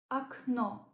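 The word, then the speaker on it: окно: example at the beginning AO AO means window here is a clear example where uh the first o is unstressed and it's pronounced more like a the O at the end is stressed and it gives clear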